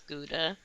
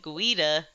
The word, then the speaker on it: Gouda: learned how to pronounce Gouda. And it was, most ashamedly a Starbucks barista who Oh. helped me out with that one. Did you say Gouda or something? No, much worse. I said Guida.